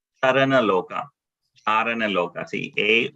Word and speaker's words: Charana: So yeah, so when we say this word, they see that C here in when it is in Sanskrit, that C is pronounced as cha. Charana loka.